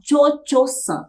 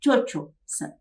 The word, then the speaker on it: Cho-Cho-san: Bem, Madame Butterfly é essa moça que se chama Cho-Cho-san, é assim que se pronuncia, Cho-Cho-san, que quer dizer Madame Butterfly ou Senhora das Borboletas.